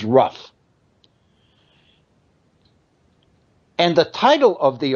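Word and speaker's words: Rugh: I'm assuming the pronunciation is Ruff.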